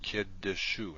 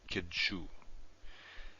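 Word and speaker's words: קידושו: So this is pronounced kiddushu, not kidshu.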